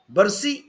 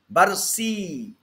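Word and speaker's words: bursae: है, कार्टिलेजेस नहीं है, बर्सी, स्पेलिंग यही है, एनाटॉमिकल स्पेलिंग ये है, और इसको आप प्रोनाउंसिएशन की स्पेलिंग बोलिए तो BURSEE, वो स्पेलिंग नहीं है, वो प्रोनाउंसिएशन के लिए मैं बोल रहा हूँ बस आपको, बर्सी है ना।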